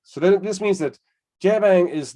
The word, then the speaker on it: JBang: the explanation mark so jbang is it's like a bad french pronunciation of jabang um but we use